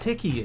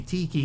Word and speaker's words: tiki: Polynesian like tikis and stuff? Yes. And it's pronounced tiki as well. Not tiki, which I hear a lot of American people say.